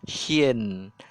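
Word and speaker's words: شين: Cara bacanya S Y I N, shin.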